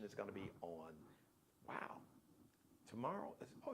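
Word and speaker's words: Umo: a r i o wo is a u it's got the w w sound it's an Italian surname uh but it's spelled u m o u like umbrella Oprah Mar and Oprah u m o also check out the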